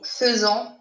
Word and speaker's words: faisons: Le verbe faire, je fais, tu fais, il fait, nous faisons, même si vous voyez ici AI, mais ça se prononce E, nous faisons, vous faites, ils, elles font.